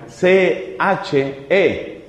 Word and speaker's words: psyche: que significa espíritu; psyche, que se escribe psyche. Esa es la manera como usualmente se pasa al castellano o se translitera esa palabra. psyche. Y se pronuncia psyche.